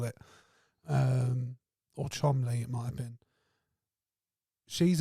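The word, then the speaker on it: Cholmondeley: SEL shadon or something I think it was someone pronounced it like Chumley or something like that why not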